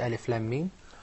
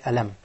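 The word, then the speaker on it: الم: Remember, those letters, we do not pronounce them. Rather, we pronounce their names. What difference does it make, Mustafa? If we pronounce their name, we'll say Alif Lam Mim. But if it is the first one, we're going to say Alam.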